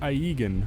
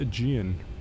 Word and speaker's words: Aegean: isn't it crazy how it looks like aigan but it's actually aegean i don't know i